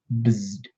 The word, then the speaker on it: Bzzd: So Bzzd, you say it's onomatopoeia. It sounds like it's spelled. Bzzd.